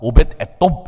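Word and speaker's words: 오벧에돔: 그러니까 오벳이라고 하는 발음에다가 에돔이라고 하는 말이 합쳐졌기 때문에 저는 이 오벳 에돔을 이게 발음이 정확하지 않으니까 오벳 에돔 이렇게 발음을 해봐요.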